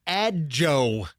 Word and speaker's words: Adjo: Yeah, so her name is Natalie Adjo. A-D-J-O. How else would you pronounce that?